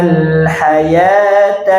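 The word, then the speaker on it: الحياة: Bal tu'siruna al-hayata ad-dunya. Silakan. Bal tu'siruna al-hayata ad-dunya. Perhatikan di kata hayata. Di situ ada waw Bu ya. Al-haya ada waw. Tulisannya pakai huruf waw. Tapi dibacanya alif.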